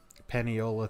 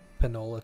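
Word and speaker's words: Paniola: what city is this pennyola town you just said it okay good like that probably didn't pronounce it correctly Panola town it's like p-a-n-i-o-l-a -doo oh he's got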